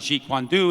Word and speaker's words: Jeet Kune Do: I pronounce it Jeet Kune Do.